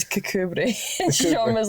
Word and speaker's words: Kirkcudbright: It's spelt Kirkcudbright, but it's Cucumbery.